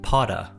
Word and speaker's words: Pota: And after filming this video, I realized it's actually pronounced Pota. My brain tricked me. It saw this name as the beginning part of podiatrist, so my bad.